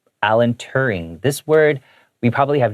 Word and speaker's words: Turing: All right, you just take out the D and put a T instead, Turing.